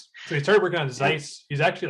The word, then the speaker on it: Xyce: started working on scice you say it's sites right yeah it's a z sound at the beginning so we started working on Zeiss he's actually like a